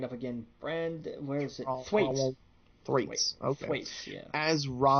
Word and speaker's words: Thwaites: Thwaites.